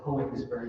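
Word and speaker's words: Königsberg: said roughly like Koenigsberg, that's like roughly what you said, right? Yeah. Oh, bless you. Bless you. Okay, that is the TV's rule that it is an acceptable pronunciation.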